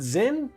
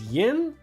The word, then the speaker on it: Zin: Like, Zin is not Zin, it's Yin.